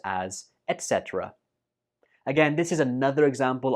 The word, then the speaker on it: etc.: when we're speaking, and it is pronounced as etc. etc. Some people use this as etc., but that's not correct. It's pronounced as etc.